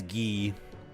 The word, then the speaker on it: Guy: Lark Deont's first name is Gee. That's spelled Gu U Y, like the guy in Final Fight. But Lark Deont is French Canadian, so it's pronounced G.